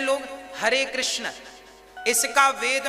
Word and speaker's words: कृष्ण: शुद्ध उच्चारण इसका क्या है? हरे राम राम राम हरे हरे, हरे कृष्ण कृष्ण कृष्ण हरे हरे, ये वेद मंत्र बोल रहा हूं मैं।